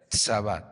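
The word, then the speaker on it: צבא: Y la palabra mujeres que se encuentra en este salmo es la palabra hebrea sabá. T s a b a. Acento en la sab es la 6335.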